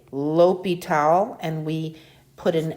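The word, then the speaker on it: Guillaume de l'Hôpital: i'll get this down and then i'll it's pronounced gayom de la pital so he was a french mathematician and 1661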